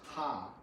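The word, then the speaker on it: 虾: also good luck because shrimp in chinese is pronounced ha and ha sounds like the first syllable of laughter so shrimp laughter good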